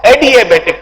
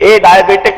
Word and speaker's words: adiabatic: Read it as adiabatic process. इसको आप ए डायबिटिक मत करो, ए डायबिटिक नहीं है. स्पेलिंग देखो, adiabatic. It's adiabatic process.